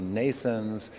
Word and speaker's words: Nnaisense: am the chief scientist and co-founder RC company Nason's which is pronounced like birth in English like Mason's but